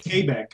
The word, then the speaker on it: Quebec: Quebec, like Quebec. K-A-B-E-K.